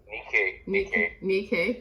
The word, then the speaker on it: Nikkei: the Veil on Nanaimo's, and how do I pronounce that? Nikkei, thank you, community, from settlement to return.